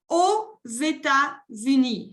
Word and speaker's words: aux: Y cuando la país empieza por vocal, hago la liaison con la X. Y se pronuncia como una Z, la letra Z. Je dis, j'habite aux États-Unis.